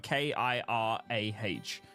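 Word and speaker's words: Kirah: Estimation Kira is spelled Estimation K-I-R-A-H.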